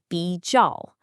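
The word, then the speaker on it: 比较: Now, listen to that sound again, 比较. Does that kind of sort of sound like BGs plus someone shouting ow?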